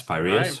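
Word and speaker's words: Piraeus: at the the University of I'm going to butcher the name here. You're going to have to help me. Pereus. Yes, Pyreus.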